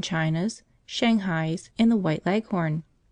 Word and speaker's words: Leghorn: Shanghais, and the White Leghorn. Phoebe, when she pronounces this word, leaves out the H and bears down heavily on the last syllable, so that it rhymes with begone.